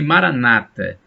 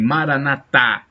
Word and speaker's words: maranatha: dialeto de jesus cristo maranatha e os protestantes dizem maranata com assento na penúltima sílaba os católicos dizem maranata proparoxítonas acento a tônica na última sílaba o significado é o